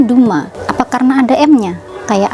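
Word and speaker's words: Dumas: Perancis nih ini bingungin ya Terus kenapa ini dibacanya Duma Apa karena ada m-nya kayak Albert kamu pakai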